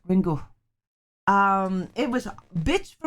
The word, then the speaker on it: Ringu: But in fact, Japanese words must end with either a vowel or a N, and the U should be pronounced as softly vocalized as schwa. Schwa. Ringu. Ringu. Schwa. Right? That's how you would pronounce Ringu.